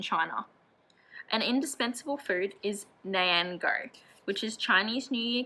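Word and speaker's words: 年糕: Gao has the same pronunciation as the word high, and Nian means year,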